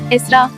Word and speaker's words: Esra: bir nokta var Evet Araplar bu isimi İsra olarak yazıyor fakat Esra olarak telaffuz ediliyor yazıldığından farklı okunan bir